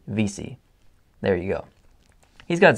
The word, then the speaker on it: Vesey: fun of because I said that I said Vesey in the card opening thing I said that because if Vesey is a extremely popular name here on Prince Edward Island it's everywhere and it's pronounced Vesey here so yeah so I said it naturally